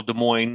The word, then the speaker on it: Des Moines: just like the capital Des Moines that the S is silent they try to go